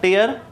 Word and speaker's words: tear: और आंसू की बात करें तो TEAR टीयर आंसू होता है और एक TIER भी होता है जो लास्ट क्लास में मैंने आपको बताया था। उसका मतलब भी उसका प्रोनाउंसिएशन भी टीयर होता है, लेकिन उसका मीनिंग होता है रो या लेयर, कतार।